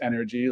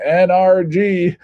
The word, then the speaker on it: NRG: sports right and we grew energy which is pronounced energy like e-n-e-r-g-y give me your energy but it is uh written out nrg so a lot of people including shaq which drives me nuts always says team nrg but um we'll take it uh we're known